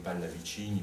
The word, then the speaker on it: Pallavicini: et d'autres très inconnus que je prononcerai à l'italienne comme Pallavicini par exemple ou Cavalli, qui sont des auteurs